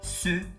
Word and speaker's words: ce: Exemple, ce garçon. Cuidado na pronúncia. Ce não é C. Se você falar C, vai dar a impressão que é plural.